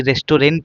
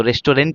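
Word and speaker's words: restaurant: दिया आपको ऐसे ही रेस्टोरेंट होता है तो रेस्टोरेंट नहीं पढ़ा जाता उसको रेस्टोर पढ़ा जाता आर ई एस टी ए यू आर ए एन टी इसको क्या पढ़ा जाता है?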